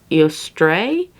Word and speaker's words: Eostre: It's also a symbolism of the goddess Ostara, and I believe it's how you pronounce it is Eostre. It's like E-O-S-T-R-E. If I'm butchering that, I am sorry. But that's how I think it sounds like.